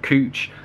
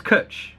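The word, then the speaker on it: cwtch: a cuddle i can't can't believe i said cooch that's how it spelled the pronunciation of kutch yeah it's kutch that's just what cuddle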